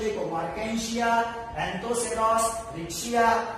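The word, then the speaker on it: Marchantia: Next है मार्केंशिया, pronunciation देखो, मार्केंशिया, एंथोसेरॉस, रिक्शिया, ये सब इसके ब्रायोफाइटा के एग्जाम्पल्स है।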